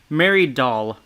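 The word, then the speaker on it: Dahl: the woman from earlier mary doll oh her last name is pronounced like doll because she's almost doll like funny however this is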